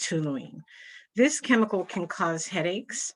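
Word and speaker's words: toluene: kind of a it's spelled t-o-l-u-e-n-e and it's pronounced tuluene this chemical can cause headaches and mental impairment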